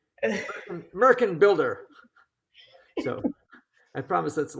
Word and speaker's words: Märchenbilder: the Schumann Märchenbilder, which, if you mispronounce it, sounds like something that Donald Trump would aspire to be. Märchenbilder.